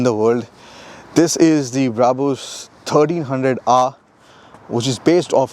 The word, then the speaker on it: Brabus: so number one question how do you pronounce brabus or bravo's how do you actually bravos brabus my name is